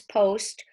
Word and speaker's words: post: but here we go it's an exception we don't say asked we say oast so we put a line over the vowel and we cross out that closed syllable and it's OST post-post like you have a